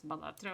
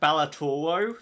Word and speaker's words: Balatro: also here outing myself as to how I pronounce Balatro. It's Balatro. I'm not going to change my mind on it. That's, So. that's a I've great heard way to I've heard pronounce it. someone pronounce it Balatoro, so I think you're pronouncing it Oh correctly.